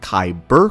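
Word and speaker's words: Kaiburr: It is spelled K Y B E R, but a singular distinct Kyber burr crystal. The spelling being K A I B U R R as confusing as it may be, will actually become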